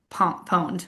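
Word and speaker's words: pwned: like I my first viral video I totally mispronounced pawn pond. Oh, I remember I remember this. Yeah. Yes. I said pond because I didn't real like I always just went to the website.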